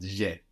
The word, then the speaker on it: j'ai: So have there is A-I, but je and e contracts and we get j'ai. J apostrophe A-I, j'ai.